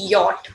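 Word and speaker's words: Jot: Basically, ya we'll be going to pronounce J as ya, but the letter we say yacht also. J, that is called Y-O-T, yacht.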